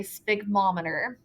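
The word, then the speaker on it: sphygmomanometer: We do not pronounce it the way that it's spelled. I think probably because somewhere along the lines it was hard to say and somebody got lazy. But it is called a sphygmometer.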